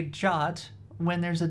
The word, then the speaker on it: JWT: I know it's yeah it's got that weird jot pronunciation because but come on it's spelled JT so I'm going to say JT I know it's supposed to be jot it's even I think it's probably even on the Wikipedia they probably have the pronunciation yeah jot same as the word jot so like if you